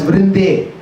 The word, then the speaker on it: Vrinde: So she's called as, even though she's Vrinda Devi, when we chant her name, we say Vrinde. So it changes the vocative form. The slight difference in the pronunciation. So, Srimati Radharani, her one of the names is Hara. Hara is her name. But that Hara becomes Hare in the vocative form. Just like Vrinda becomes Vrinde.